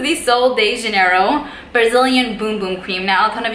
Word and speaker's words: Bum Bum: You know, it's like it says Bum Bum, but on their website, I do believe that they mention it's pronounced Boom Boom.